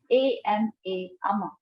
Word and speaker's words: ama: ama. The pronunciation is ama.